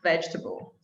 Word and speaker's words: vegetable: difficult vegetable vegetable because most people put too many syllables in it yeah comfortable yeah i feel like uh the word table just ruined everything for us because people they they try to say vegeta because of table they try to say